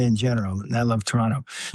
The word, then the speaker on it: Toronto: Hopefully we can get a Can I know how I pronounce it correctly? Toronto. There's two syllables, not Toronto.